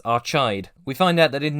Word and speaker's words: Archaide: Wade's ship, the Vonnegut, exits lightspeed at the planet I've decided to belligerently pronounce as Archide.